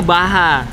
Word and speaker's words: Baja: Bilangnya Baha. Baha Design. Ya, betul. Bukan ini tulisannya Baha Design, dibacanya Baja Design. Salah, tulisannya Baja. Bajanya Baha.